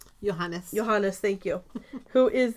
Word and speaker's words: Johannes: yo yo how do you say that name Johannes Johannes thank you who is the Imperial mathematician